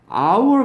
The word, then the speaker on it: hour: 근데 hour 같은 거 있죠? hour 같은 거는 발음이 어떻게 되냐면 아죠 이게 이렇게 됩니다. 얘는 H가 발음이 안 나요.